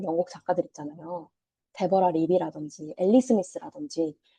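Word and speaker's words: Ali Smith: 데버라 리비라든지 엘리스미스라든지 여기 영국 발음으로는 알리스미트라고 하던데 알리스미트의 강연도 제가 신청해 놨고 그래서 여기에 있는 동안 볼 수 있는 작가들을 많이 보고 가야겠다 이런 생각을 하고 있습니다.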